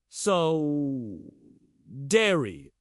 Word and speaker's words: Sodder: Have you ever heard of the solder family? It's pronounced sa so dairy.